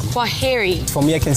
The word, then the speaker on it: kwaheri: In Swahili we say kwaheri. Kwaheri.